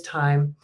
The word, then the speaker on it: thyme: uh me working on my pronunciation and it is time and this one this